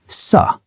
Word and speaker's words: sir: Arthur did not pronounce the R in sir or support. It sounded like suh and support.